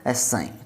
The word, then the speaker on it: psi: सकते हैं PSI, और हिंदी में बोले तो साइन के उच्चारण से इसको बोला जाता है, PSI या साइन, ठीक है।